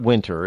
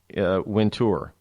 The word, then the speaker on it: Wintour: I watched a CNBC thing on her, and it's not Winter, it's Wintour, and that's how it's actually spelled, Wintour.